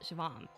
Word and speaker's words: Siobhan: It's pronounced Shivam.